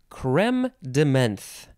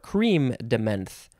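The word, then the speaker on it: crème de menthe: okay next hey yeah creme de menthe or cream de menthe or creme de mint or creme de mont all of those are fine it is creme de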